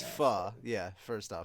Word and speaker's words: pho: It's pho. Yeah, first off, it's pronounced pho.